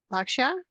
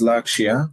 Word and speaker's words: Lakshya: Some new people we have joining us today are Austin and Lakshya.